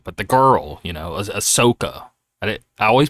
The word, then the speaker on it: Ahsoka: I'm going to pronounce it because I always pronounce this wrong, but the girl, Ahsoka. I always pronounce You it said wrong.